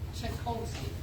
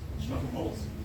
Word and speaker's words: Chapolsky: Chapolsky. Chikolsky. Close. Chapolsky.